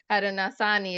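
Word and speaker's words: Haudenosaunee: my primary language so Hara nasani is how I pronounce it but you know someone original person might uh correct me on that I knew it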